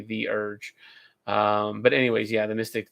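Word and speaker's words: Theurge: It's really good for a Thurge, I think the Urge. I always want to pronounce it Thurge, but I'm remembering that no, it is actually the Urge.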